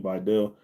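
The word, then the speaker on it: Vidal: things like that with Vital and Patterson or Videl, that's how you say his name, Videl.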